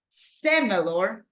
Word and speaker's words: similar: the first syllable opposite similar similar same thing stress goes in the first syllable similar something somewhere kind